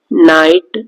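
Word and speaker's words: knight: के साइलेंट हो, तो ये वर्ड है नाइफ, नॉक, नाइट, नॉलेज, इन सब में के साइलेंट है क्योंकि के को पढ़ा नहीं जाता है।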